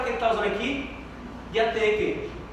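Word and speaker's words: διαθήκη: A palavra para testamento no grego é diateke, né?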